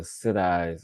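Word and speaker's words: सिद्धि: indigenous shamans, combining what I know of the Siddhis or the cities of no Siddhi, that's how it's pronounced, of India.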